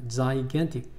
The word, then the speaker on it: gigantic: Gigantic. 앞에 있는 지하고 뒤에 있는 지하고 발음이 다릅니다. Gigantic.